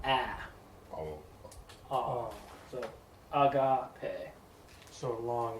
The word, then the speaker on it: agape: So agape. So long A. Yes, long A. Man, I need to get new markers. Put that word back up. Agape.